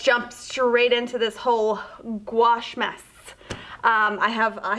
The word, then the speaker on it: gouache: take a step back it's pronounced gouache i can't tell you how many times i've heard gauche guachi gucci like that i've i've heard so many different ways of how it's pronounced it's gouache just like you're washing your clothes in the washing machine but with a gu in front of it gouache now what a gouache